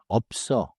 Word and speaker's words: 없어: Is written 없어. And the natural sound is 없어.